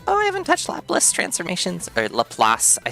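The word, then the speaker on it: Laplace: They're like, "Laplas? What's Laplas?" And then I started writing out a lelass uh example, lelass transform and they were like, "Oh, lelass." And I was like, "Yes, sorry. I was just mispronouncing it with the integrals."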